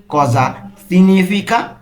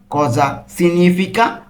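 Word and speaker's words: cosa significa: তাহলে এর মানে কি এর ইতালিন কি হবে কজা সিনিফিকা কজা সিনিফিকা উচ্চারণটা খেয়াল করুন কজা সিনিফিকা এর উচ্চারণ কিন্তু উজ্য মানে এর উচ্চারণটা হচ্ছে না।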